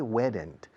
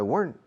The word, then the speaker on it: weren't: If I weren't, es una sola sílaba, no se dice weren't. If I weren't a nervous person, I wouldn't play with a paperclip all the time, okay?